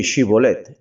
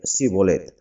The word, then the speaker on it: Shibolet: no, entonces le decían, «Ahora pues, di Shibolet», y él decía Sibolet, porque no podía pronunciarlo correctamente.